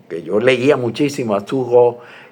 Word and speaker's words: Thoreau: Cuando en ese tiempo que yo admiraba, o que yo leía muchísimo a Thoreau y me impresionaba mucho su relación con la